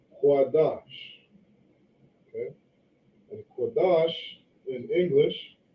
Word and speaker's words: Qadash: an A sound, right, we don't say quadash ah, we say quadash. Okay, we have the da and the sha. Okay, and these two characters right here, they connect. So we drop the syllable here on the sha, right, and putting it together, we say dash. Okay, dash. So this word right here is correctly pronounced Qadash.